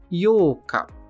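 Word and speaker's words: 八日: dia 8 também tem uma leitura especial para ele que é o yoka yoka que é a sílaba Yo com o prolongamento yoca o penúltimo candid de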